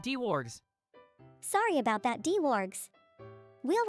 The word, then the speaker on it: Dwarg: My name is pronounced D-Wargs, not D-Wargs.